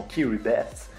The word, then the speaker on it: Kiribati: Direction KIRIBATI Bienvenue dans l'archipel de KIRIBATI qui se prononce également kiribeth Bienvenue dans une Nation